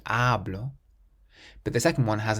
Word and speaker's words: hablo: So the first one, you stress the first syllable, hablo, because there's no accent and it ends in a vowel, we stress the syllable before last, hablo.